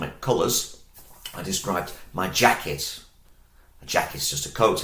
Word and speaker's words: Jacke: So, and in German, that's Jacke. Jacke. You might like to eat sometimes a yogurt, and German has the same word, but it's spelt with this letter, because this is the sound for yogurt.